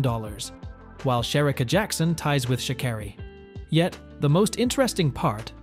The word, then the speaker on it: Sha'Carri: will not hesitate to correct people when they mispronounce her name. It's Sha'Carri.